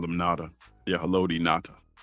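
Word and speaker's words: Ngata: I just call him Natada. Yeah. Hello Nata. Cuz the G is silent.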